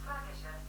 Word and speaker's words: flagitious: That's pronounced flagitious. And as for what it meant, well, that was cool. Here's the definition of flagitious. Formal. Of a person or their actions criminal, villainous. Further investigation showed that the word was generally pronounced flagitious.